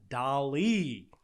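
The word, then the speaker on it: DALL-E: an artificial intelligence called dali kind of rhymes with wally you can imagine where the name came from wally anyway it's developing an artificial intelligence called dolly and this ai can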